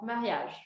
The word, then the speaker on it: mariage: Esses eus aqui do final, a gente não pronuncia, como se eles não existissem, os eus no final das palavras.